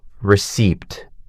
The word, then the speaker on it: receipt: Receipt. People always want to pronounce the p. But the p is silent.